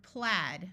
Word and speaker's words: plaid: against finally we have the word plaid which has a short a plaid is a pattern